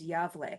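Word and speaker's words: Gävle: okay but but the town is called yavle and it's spelled g-a-v-l-e and it's the Yahweh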